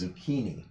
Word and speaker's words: zucchini: All right, so going back to zucchini, there's another rule in Italian too. If you have a CH before an I or an E, that's pronounced like a K. So that's why this is zucchini.